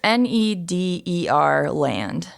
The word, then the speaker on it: Nederland: journey a guest it's n-e-d-e-r land okay so if i remember correctly the netherlands is pronounced nederland if you say it like correctly so that's probably something